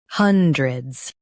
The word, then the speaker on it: hundreds: hundreds Now read the syllables shown on the screen naturally. hun dreds hundreds Stress hun and keep dred light.